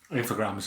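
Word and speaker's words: Infogrames: It's interesting that this is Infogram. I never know how you pronounce this. Is it Infograms? Infograms, yeah.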